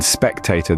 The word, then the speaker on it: spectator: this includes words like spectator spectacle and spectacular in spectator the stress is on the first syllable spectator moving on to spectacle the